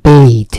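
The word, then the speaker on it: bathe: আর BATH, বাথ, এটা কিন্তু আর বাথ থাকে না, এর উচ্চারণটা হয়ে যায় বেইথ, সে কারণে দিয়েছে।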